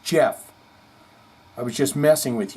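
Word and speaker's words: Geoff: Johnny be talking about ghof Tates first name is actually pronounced Jeff I was just messing with you Goff sounds a lot better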